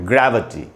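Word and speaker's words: gravity: ए का साउंड है, ग्रेविटी। ये ग्रै में जो ए है उसी को मैंने अंडरलाइन किया, वहीं पर रुकना है। ग्रैव, व के बाद आधा अ है, ग्रेविटी।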